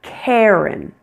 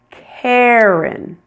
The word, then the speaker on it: Karen: Karen. Which R controlled vowel sound are you hearing in the name Karen? Air. Air. Air. You're hearing the one that sounds like hair. Hair. It's a long a plus.